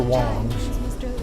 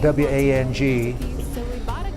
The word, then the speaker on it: Wang: Well, the first one I remember is Master Wong's, spelled W-A-N-G, but pronounced W-O-N-G, and the reason being